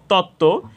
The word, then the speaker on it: তত্ত্ব: এখানে আমরা দেখতে পাচ্ছি দ্বিতীয় শব্দে তত্ত্ব এখানে যুক্ত ব্যঞ্জন বর্ণের সাথে বফলা সংযুক্ত হয়েছে যুক্ত ব্যঞ্জন বর্ণের সাথে বফলা সংযুক্ত হওয়ার কারণে এখানেও ব ফলার উচ্চারণ হয়নি তত্ত্ব তো এখানে আমরা আরো